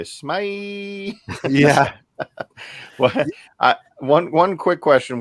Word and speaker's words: SMEYE: But yeah, that's really just it, Or as Vince from Pop and Duo would say, SMEYE.